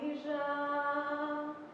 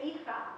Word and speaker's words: hija: And if you were reading this thinking it's modern Spanish, you'd say hija, because the J in modern Spanish is pronounced as a cosa. But in Judeo-Spanish or Ladino, it's a jusa.